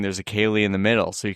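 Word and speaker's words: ceilidh: is kind of the Kaylee sound, right? Like Right. the dancey fun part. Right. Like how I used my Irish saying there. Yeah. And you didn't pronounce the D. Well, you're not supposed to.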